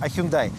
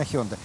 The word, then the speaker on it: Hyundai: на на хендай elantra прошу прощение не hyundai хендай потому что наша соотечественница с этим названием что компания решила принять так сказать нашу версию и теперь официально это слово произносить hyundai хотя по корейски более правильно honda но мы поверим компании